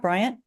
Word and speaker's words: Bryant: Coach Paul Bear Bryant is that how you pronounce it Bryant uhuh Bryant and coaches Carney lassley and Frank Mosley she's